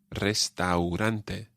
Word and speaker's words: restaurante: on the end but the a u sound in the middle sounds like ao restaurante restaurantes one final one